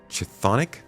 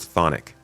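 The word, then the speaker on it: chthonic: Chathonic. Oh, it's just pronounced thonic.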